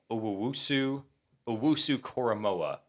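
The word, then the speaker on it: Jeremiah Owusu-Koramoah: So to get the perfect pronunciation, Owusu Koromoa.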